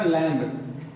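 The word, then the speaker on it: lamb: कंघी ककही अगला हमारा लम क्या है लिखे है लम लेकिन पढ़ते हैं क्या इसको लैम लैम मीस क्या होता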